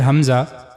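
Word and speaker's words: همزة: The next letter, Hamza. The origin of this letter is similar to the previous letter H. Hamza, the lowest part of the throat.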